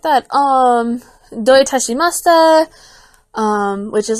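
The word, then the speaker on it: どういたしまして: So my dad broke it down, like, don't touch my mustache. Doi tashimashita. Can you hear it now?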